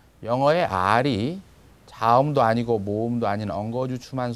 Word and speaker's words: Р: 18번은 피자 같이 생겼는데 P가 아니고 영어의 R에 해당되는 글자예요. 그래서 이 알파비트의 명칭은 R, 그 다음에 소리는 R 이렇게 납니다. 영어의 R이 자음도 아니고 모음도 아닌